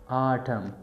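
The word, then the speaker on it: autumn: most खजा आ इस्तेमाल ए यू टी यू एम एन आटम की N silent आट प्रोनसिएशन दे आवे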